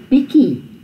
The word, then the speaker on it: bietjie: So, hy is 'n bietjie honger. Now this is the TJIE is not pronounced with a TJ at all. It's pronounced with a KIE.